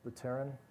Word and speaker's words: Vitalik Buterin: So Casper is used both by Vlad Zamfir and by Vitalik Buterin, is that how his name is pronounced? Buterin?